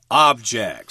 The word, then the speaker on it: object: change your mind but here it's the noun with the accent on the first syllable object so this machine can